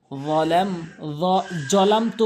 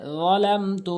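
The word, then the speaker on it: ظلمت: আল্লাহুম্মা ইন্নী যালামতু নাফসি জলামতু কখনোই বলবেন না উচ্চারণ করবেন যালাম জিহ্বার আগা দাঁতের আগা যালামতু নাফসি জুলমান বলা যাবে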